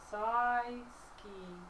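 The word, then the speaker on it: Syksy: you spell that s-y-k-s-y wait how do you pronounce saw ski yeah s-y-k-s-y size key hey look mate can I just call you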